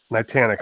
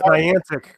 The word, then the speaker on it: Niantic: Nitanic. Oh, sorry. Yeah, and they're done. No, that's Niantic because he's in Connecticut. That's Niantic.